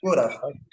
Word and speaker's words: would have: would have. Would have. Would have. I would have. Sin la L. Yeah, the L is silent.